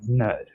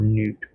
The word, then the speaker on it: Nut: And for the best way of really saying it is like the sky god Nut or Newt. V doesn't like me calling her Nut, but it's Newt or Nut, whichever way you want to pronounce it.